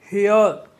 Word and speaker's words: hear: देखिए यहाँ पे भी दो वावेल हैं, यहाँ पे भी दो वावेल हैं, हर जगह दो वावेल हैं, लेकिन यहाँ पे जो साउंड है उसका चेंज हो जा रहा है।